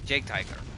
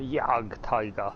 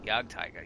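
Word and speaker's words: Jagdtiger: Jake Tiger. I mispronounced that name while streaming. I know it. I've done it multiple times, but yes, I know which Tiger tank you're talking about too. The Yag Tiger.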